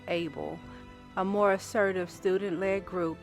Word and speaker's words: AABL: COBRR involved into Afroamericans for black liberation, AABL, pronounced ABLE, a more assertive student-led group that successfully pushed for the establishment of black history courses.